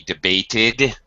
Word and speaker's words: debated: It can sound like id after a t or d. I waited for 3 hours, for example. We debated the issue.